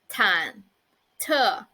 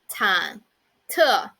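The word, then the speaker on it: 忐忑: unsettled it means kind of frightened and the pronunciation of it is tan tu time to so actually there are two words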